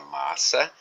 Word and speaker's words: massa: Porque nessa palavra massa está presente ou foi empregado um dígrafo, SS, que é considerado como um único fonema. É como se fosse um C, é como se fosse um C cedilhado. Massa.